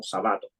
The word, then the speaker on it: Sabato: le dicen a él se escribe igual que Ernesto sábato pero lo pronuncias como sabato sabato sabato profesor Larry shabat él